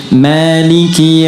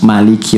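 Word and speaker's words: مالك: Jadi kalau teman-teman pernah dengar Maliki Yaumiddin, itu bisa dibaca dengan dua cara. Ini informasi saja. Bisa maknya pendek, bisa panjang. Jadi ada riwayat yang pendek, ada riwayat panjang.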